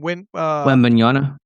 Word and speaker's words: Wembanyama: I think the Knicks, just the three their three nucleus is better than how do you pronounce the last name? Wembanyama.